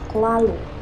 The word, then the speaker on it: Cthulhu: Lovecraft sendiri menggunakan beberapa pengucapan yang berbeda selama bertahun-tahun. Salah satunya adalah Klalu, tapi yang paling sering digunakan adalah Cthulhu.